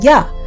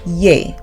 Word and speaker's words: Yah: tetragrammaton YH, is pronounced together, you get the pronunciation Yah, as in Alleluia, with a Y, not a J, which is the Hebrew word for praise Yah. Some persons think it should be pronounced Yeh, but that removes the original A sound of